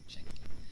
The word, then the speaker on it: chancla: It's like, pronounce it, chancla.